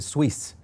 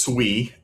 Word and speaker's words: SUI: Is that what you're calling it, or is it Swiss? Well, technically it's SUI. Is how you say it, but yes, that is the tick.